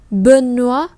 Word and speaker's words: Benoît: Như vậy O-I trong tiếng Pháp thì sẽ giống với lại O-A-oa trong tiếng Việt. Như vậy đây không đọc là noi hay khoi hay choice hay roi hay toi, mà chúng ta đọc là oa.